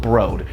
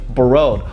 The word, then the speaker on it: Broad: very honest human being first of all I had no idea the museum was called broad it's spelled Broad and that's what it is but everybody's attacking me they're like oh actually you uncultured brute it's actually bod well